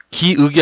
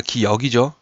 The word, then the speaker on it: 기역: 예외가 뭐냐면, 기읍이 아니라 기역이죠. 그렇죠? 요 역. 읍이 아닙니다.